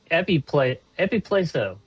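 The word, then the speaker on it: ἐπιπλήσσω: The Greek word is epipleso, is how you say it.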